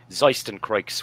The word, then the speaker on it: Zeistencroix: name is mr orlando draven from the band zeisten creeks which i hope is the pronunciation that is correct yeah it's perfect thank